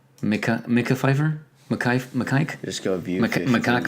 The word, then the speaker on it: Mekhi Phifer: Oh, Mekhi Phifer. Okay. That's how you say it. Yeah. Mekhi Phifer.